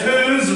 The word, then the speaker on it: whose: go up now well does whose rhyme with whose shoes yes whose rhymes with shoes Regan and what does